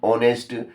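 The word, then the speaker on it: honest: एलीिफेंट एन इंकप एन ऑनेस्ट एन आउल N Woakes N umbrella तो ये आगे एच लिखा है मगर जब इसको पढ़ते हैं तो एच नहीं पढ़ते हैं। एच साइलेंट रहता है।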